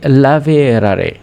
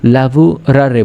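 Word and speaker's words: lavorare: তখন কি বলতে হবে সারুফাতে লাভেরারে বা লাভেরারু এরকম শব্দতা ইতালি ভাষায় যখন কথা বলা হয় বা সঠিক ভাষায় বলা হয় তখন কিন্তু লাভবুরারে বলে লাভুরারে মানে কি?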